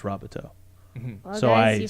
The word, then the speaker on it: Robateau: Oh, I will say I just found out today that it's pronounced Robateau.